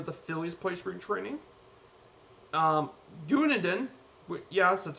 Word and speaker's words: Dunedin: Dunedin, yes, that's how you pronounce it.